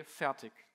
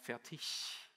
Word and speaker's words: Fertig: I say Fertig, usually, with a hard K at the end, and it turns out that in the German language, it's more Fertig sound.